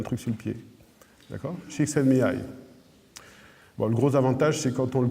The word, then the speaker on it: Csikszentmihalyi: donc ça se prononce Csikszentmihalyi, d'accord? Donc, on peut, si on veut décomposer, les anglo-saxons décomposent de la façon suivante en disant chicken comme le poulet, sen comme posté, mi comme moi et aïe parce que j'ai